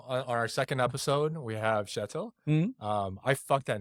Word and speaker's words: Kjetil: It's like an SH.